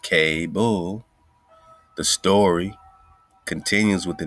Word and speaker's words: Kabul: so suddenly this chief has the same k-a-b-u-l pronounced k-bull the story continues with the narrative that chief